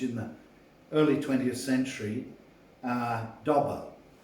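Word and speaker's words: Dauber: the early 20th century, Dobber. It's spelt D-A-U-B-E-R, and you can bring many good prints of it up on the computer, and Dobber is really worth reading.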